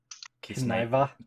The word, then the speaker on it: Kiznaiver: last part where I think in the anime they said instead of Kiznaiva. Kiznaiva. Kiznaiva. Kiznaiva. Kiznaiva. Yeah, you need to I kiss Naiva. Kiznaiva.